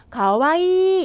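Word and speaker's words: かわいい: 어이가 두 개 있네 이거 어떻게 읽어요 카와이일까요 일까요네이가 두 개 있으면요 발음을 길게 빼서 읽어 주시면 됩니다 가와이 이렇게 읽어 주시면 되고요 정중형 보실게요 가와이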